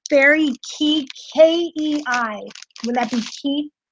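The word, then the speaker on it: fairy kei: It's Fairy K. That's how it's pronounced. Fairy K. But it's spelled K-E-I.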